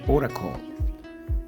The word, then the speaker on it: Oracle: sitios web definición de Oracle así se escribe se pronuncia oracol y quiere decir oráculo